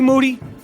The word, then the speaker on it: Moody: as promised me gee moody last name rhymes with duty back to basics fundamental podcasting my name is Michael Rapaport aka mr.